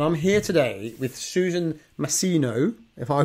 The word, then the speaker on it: Masino: I'm here today with Susan Masino, if I pronounce that right, yes.